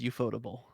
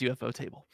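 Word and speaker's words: ufotable: table okay the en yep otherwise known as eup fodable but they're pronounced UFO table um it is um a convoluted story that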